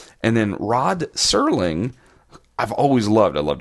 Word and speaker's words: Serling: I said Rod Sterling not Serling.